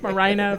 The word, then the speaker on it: Marina: somewhere in my name he likes it to rhyme with vagina Marina vagina wow I didn't